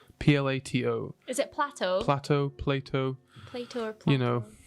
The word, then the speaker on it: Plato: Okay, so this city was first mentioned on record by an ancient Greek philosopher by the name of, I believe it's pronounced Plato. Plato.